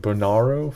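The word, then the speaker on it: Bonnaroo: Cole, Tool, and Stevie Nicks are going to headline, is it Bonarro Festival? That's how you pronounce it?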